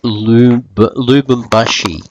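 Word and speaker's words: Lubumbashi: It's Lubambashi, not I said earlier. So trust me, I have had trouble all the way through pronouncing this name.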